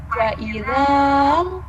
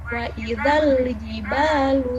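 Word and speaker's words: وإذا الجبال: Tetapi di depannya ada sukun, maka si alif ini yang harusnya dibaca panjang, jadi diabaikan saja. Sehingga dibacanya bukan wa'idhal, bukan seperti itu, tapi wa'idhal jibalu suyirat.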